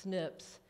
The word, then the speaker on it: SNPs: It's an acronym spelled capital SNP, but pronounced SNPs, and I'm comparing those with slips of speech, thus the title Snips, Slips.